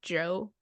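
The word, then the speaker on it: Djo: think and we got Joe on here Chateau oh that underground artist kind of underground it's spelled DJ o but it's pronounced Joe trying to be clever it's the actor in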